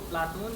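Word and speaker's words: Πλάτων: प्लेटो शब्द का शुद्ध यूनानी उच्चारण प्लाटोन है।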